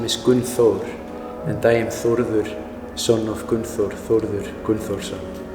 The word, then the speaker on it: Thordur: my name is Thordur. That's the actual Icelandic pronunciation. It's an Icelandic name.